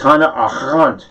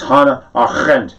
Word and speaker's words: Hannah: i i am not the best one for pronouncing things properly and i totally uh i've always called her hannah a rent it's not it's hana the r is rolled and the r e